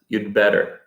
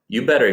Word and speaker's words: you'd better: head better we print we pronounce had as the contraction and sometimes we even leave it out so in the statement you had better get a flash drive too we'll pronounce it as you'd better you'd better you'd better get or we might just leave out the had all together and say you better get and that's very informal